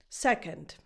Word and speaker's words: second: The second syllable is not stressed, so is not as defined.